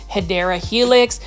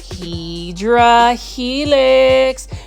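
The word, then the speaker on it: Hedera helix: English ivy or the correct way to say it is hyera Helix um for my viewers that are just discovering my channel especially for the ones that tuned into my plom videos I purposely mispronounce um hadera Helix as hedra Helix because it is one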